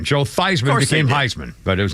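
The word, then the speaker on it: Theismann: and by the way his name was theeman and they changed it at Notre Dame to rhyme with Heisman Joe Theisman became Heisman but his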